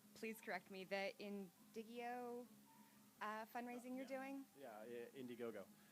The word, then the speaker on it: Indiegogo: Yeah, Indiegogo. It's You might pronounce it wrong.